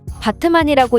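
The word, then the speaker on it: Batman: 사실 튀르키예식 발음으로 하면 바트만이라고 읽어야 하지만 영어 스펠링이 우리가 아는 배트맨과 똑같기 때문에 해외에서는 밈처럼 여겨지며 많은 사람들이 흥미로워하는 요소이죠.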